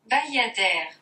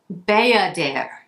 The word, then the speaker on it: Bayadère: I know we're not talking about the summer today, but I just want to make sure that I'm pronouncing it right. Bayadère. Bayadère.